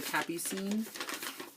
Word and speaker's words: Capucine: because I wasn't sure, the Capucine. But it's a French word, and it means nasturtiums, which is a flower.